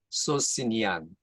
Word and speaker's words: Socinian: 두 번째는 그 소시니안 혹은 소키누스 발음이 여러 개인데 소시니안 NIAN입니다. SOCINIAN.